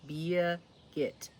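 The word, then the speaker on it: Birgit: the wishing Fern Thorn her name is pronounced Bia git if it helps you it's like beer gut but yeah get like get on down the road be a git all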